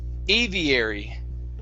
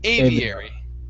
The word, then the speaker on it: aviary: birds okay good here this word is pronounced aviary aviary aviary good nice job with the e sound there at the end that's awesome okay what